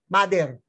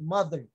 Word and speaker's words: mother: The letter R disappears.